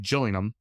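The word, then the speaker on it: Gillingham: i n g h a m but it's pronounced Gillum and of course how British is this what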